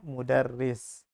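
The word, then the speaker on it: مدرِّس: di bawah nya ro tapi kalau ada tasdid dia berubah menjadi di bawah tasdid ini bacanya mudarris Nah kalau begini baru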